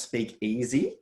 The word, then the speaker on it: SpeakEase: about that yeah so it's actually pronounced speak easy so i'm i'm a